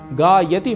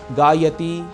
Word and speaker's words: गायति: समय लगा रहा हूं गायति में य में जुड़े अ को बोलते समय थोड़ा अधिक समय देने से ति का उच्चारण शुद्ध होता है अन्यथा ति दीर्घ हो जाएगा और हम बोलने लगेंगे गायति पिवती नयति यह ठीक